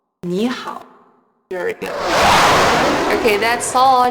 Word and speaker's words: 你好: But in 你好, you should still write the third tone mark above the vowel E, but when you speak, you should pronounce it as in second tone, like 你好, 你好.